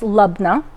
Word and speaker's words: labneh: so we have our lubna and yes it's pronounced lubna um and i'm just gonna put some olive